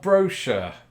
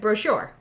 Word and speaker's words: brochure: for sure for sure brochure doesn't rhyme but it does when I say it brochure yeah it does don't